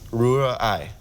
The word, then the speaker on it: Rührei: So you have to separate it, Rühr, and then Ei. Rührei. Yeah. Rührei. Yeah, that wasn't so Rührei.